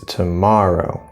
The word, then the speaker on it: tomorrow: that's an oh yeah and this is three syllables but here it's tomorrow tomorrow so it's gonna be stress here it